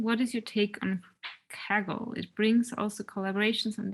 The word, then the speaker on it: Kaggle: open data closer to the kaggle approach do i pronounce it correctly yes yes and and i think